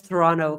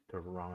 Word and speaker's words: Toronto: Toronto. No, it's Toronto. No. The only people from Toronto pronounce it Toronto.